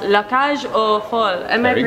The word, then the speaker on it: La Cage Aux Folles: on 20th July called La Cage Aux Folles. Am Very I pronouncing good. That? Yes, yes? Perfect. Thank you. A lot of people like put the S at the end, La Cage Aux Folles.